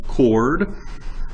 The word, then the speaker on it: chord: new for you chord I know it says CH but it's pronounced chord a chord is a